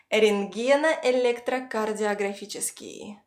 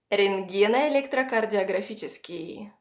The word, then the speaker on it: рентгеноэлектрокардиографический: Рентгено-электрокардиографический. Рентгено-электрокардиографический. Рентгено-электрокардиографический.